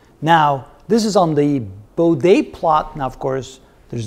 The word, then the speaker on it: Bode: plot a lot of people call it the bode plot which is the proper way of pronouncing that by the way but anyway what